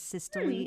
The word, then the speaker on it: systole: diastole by the way many people pronounce the terminal e so you'll hear it as systole and diameter right here